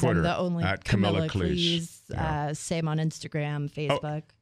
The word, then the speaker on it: Cleese: So, So it's Cleese. Yeah. Okay. But also, if you think about it, I mean, that's how you'd pronounce any word that's spelled like that. Right. I guess there isn't Except another Reese's one. But like peanut butter Cleese. cups. It's not like fleece But with a C.